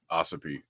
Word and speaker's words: Ossipee: How is that pronounced? Is it Ossipee or is it Ossipee? Ossipee.